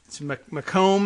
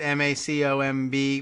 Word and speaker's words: Macomb: here not Detroit but mimic Macomb is that how they say it ma Co MB Macomb County as opposed to make them County I'm not certain I